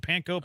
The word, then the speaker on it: panko: Is that how you pronounce it? Panko?